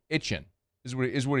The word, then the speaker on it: Etienne: It's because it's just the accent of saying "A-chain" is what he's is what he's saying. I get it. And it's a it's a Southwest Louisiana thing.